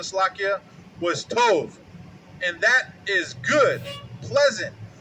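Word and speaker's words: טוב: And that definition or pronunciation, Slakia, was tov.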